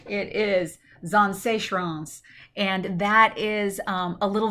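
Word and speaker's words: Zaanse Schans: And let's make sure I pronounce this right, because this is a hard one to pronounce. It is Zanseechrans, and that is a little village on the seaside, and it's really neat.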